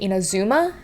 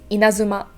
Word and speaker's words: Inazuma: speaking people in general, they'll pronounce it Inazuma with the intonation at the third syllable. But in fact, when I asked my girlfriend, because I couldn't tell, but for me and many other Japanese speakers, the intonation will go into the first or second syllable, so it's Inazuma.